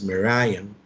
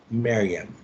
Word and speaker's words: Merriam: Others would pronounce that as Merriam, but I heard editors working for that dictionary say Merriam.